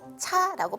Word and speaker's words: 茶: 차는 한자어인데 차라고 발음하기도 하고 다라고 발음하기도 합니다.